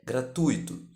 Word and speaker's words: gratuito: acento diferencial e cinco a pronúncia culta de gratuito é gratuito com a tônica no u do ditongo Ui por conta disso Há